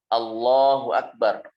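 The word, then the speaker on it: الله أكبر: tajwidnya ya seperti itu Allahu Akbar Allahu Akbar bukan Allahu akbar Itu juga kalau banyak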